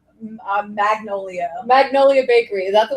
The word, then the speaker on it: Magnolia: Am I saying it right? Is it Magnolia? Magnolia? Mango. Mango. Do you know what I'm talking about? The one from Sex and the City. Magnolia. Magnolia, yes. Magnolia. I said Mongolia. Well, how do you say it right? Magnolia.